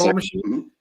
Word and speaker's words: Paul Machin: Yes, Paul.machin from Black Book.